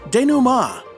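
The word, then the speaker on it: dénouement: of fun with French today's word is denuma de Numa it's spelled denouement d-e-n-o-u-e-m-e-n-t which comes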